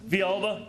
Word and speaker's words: Villalba: Did I pronounce that right? Villalba.